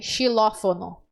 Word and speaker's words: xilófono: vê com o brinquedo ele se não se escreve com x mas se pronuncia com s se não for e se escreve xilófono tá é Inclusive só